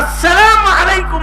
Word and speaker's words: আসসালামু আলাইকুম: আর আসসালামু আলাইকুম মানে হলো আপনার উপরে শান্তি বর্ষিত হোক। সালামের শুরু হামজা সুস্পষ্ট করে উচ্চারণ করা ওয়াজিব।